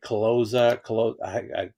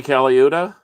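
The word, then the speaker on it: Colaiuta: Is it Caloza? Vinny Caliuta.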